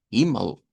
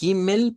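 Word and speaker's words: Himmel: En esta de acá estaríamos sonando como entonces por eso decimos. Himal. No es himel.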